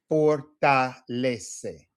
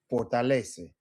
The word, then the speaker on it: fortalece: Fortalece. Fortalece. So we have 4 syllables because everything is syllable based.